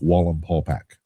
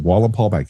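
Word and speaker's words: Wallenpaupack: in the Poconos on a lake called Lake Wallen Paulac took me a long time to be able to pronounce that right right wall and Paul back you can look it up it's the biggest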